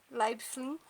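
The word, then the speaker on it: Leiblfing: Na cidade de Leibfling. É pra ser assim a pronúncia, eu pesquisei no Google, é pra ser assim.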